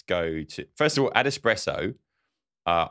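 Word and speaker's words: AdEspresso: all add espresso uh I was convinced was ad suppresso and I didn't realize I've couldn't you know just had I know how to spell it now I know I think I've called it ad espresso yeah I was pretty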